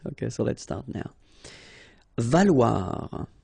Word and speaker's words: valoir: Valoir. So remember, when you combine this O and E together, you get the sound wa. Okay, so valoir, valoir.